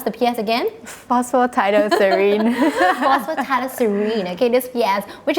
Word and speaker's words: Phosphatidylserine: Can you tell me how to pronounce the PS again? Phosphatidylserine.